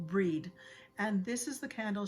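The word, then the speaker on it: Brigid: she says it brid it's pronounced breed and this is the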